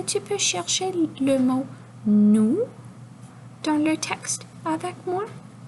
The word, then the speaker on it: nous: Alors, le N fait le son N et le O et OU, lorsqu'ils sont ensemble, dit OU. Donc, et on ne prononce pas le S. Donc, N, OU. Est-ce que tu peux chercher le mot nous dans le texte avec moi?